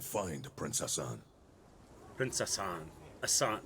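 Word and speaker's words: Ghassan: Hassan. G-H-A-S-S-A-N is Hassan? The G-H is silent, is it?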